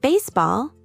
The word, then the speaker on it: baseball: In baseball, the stress is on the first syllable.